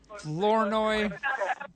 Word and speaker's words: Flournoy: That's Cole and Kelly Flournoy. Is that how you pronounce it? Flournoy.